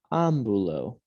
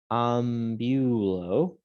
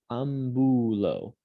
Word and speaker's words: ambulo: Ambulo, I walk. Notice it's not ambulo. There's that accent mark on the A to tell us where to put the stress of the word, where to put the emphasis when we're pronouncing it.